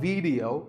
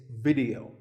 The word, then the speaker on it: video: important thing is that both the i and the e are pronounced as short it sounds it's not video it's video if you watch a